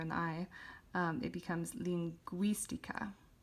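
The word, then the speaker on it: lingüística: it would be pronounced lingistica but by putting the two dots above the u and we have an accent here on the eye it becomes linguistica so instead of gi it's gui so we're changing the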